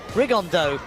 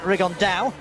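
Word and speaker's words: Rigondeaux: That's coming up in about 3 weeks, and Tete's talked about fighting Rigondo, or as he's correctly pronounced with the Spanish accent, Rigondao.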